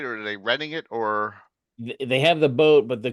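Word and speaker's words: Oerth: Like oith. Right? It's orth. Right. There's pronunciations in this book. Yeah. But they have orth, and I like orth. The E is, you don't hear it. So, orth.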